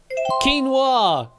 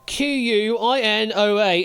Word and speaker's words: quinoa: We're looking for quinoa. Quinoa is quinoa. Yeah, your guess is as good as mine as to why that's the pronunciation of it, but it is.